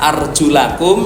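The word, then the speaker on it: أَرْجُلَكُمْ: Satu bacanya fathah arjulakum, satu bacanya kasroh arjulikum.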